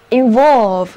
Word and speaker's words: involve: 还是回到 VOLVE 这个词根吧，在它的前面加上 IN 这个表示进入的前缀，就得到了这个新单词 involve. Involve, INVOLVE.字母 O 要读作 O， VOLVE 是词根，表示卷， in 表示进入，所以合在一起 involve 就是卷入或者牵涉包括的意思。单词的重音在第二个音节 involve。